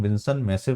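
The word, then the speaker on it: Vinson Massif: विंसन मेसिप बोलते हैं जिसको हम विंसन मैसिव बोलते हैं। ठीक है? इसको स्पेलिंग जो है मैं यहां पर लिख देता हूं।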